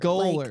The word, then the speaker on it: Goller: It's Macy Goller. Goller. Like, goal. Like goalie. I just scored a goal. I am a goalie.